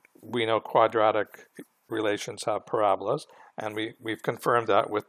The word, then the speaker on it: parabola: the equation, and we know quadratic relations have parabolas, and we've confirmed that with the actual graph. So the shape is a parabola. And please learn how to pronounce this right. It's not parabola, it's parabola.